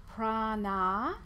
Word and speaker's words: prana: It can have two meanings because it's made up of prana, with a long A sound on the end, and ayama, or prana, with a long A on the end, and yama.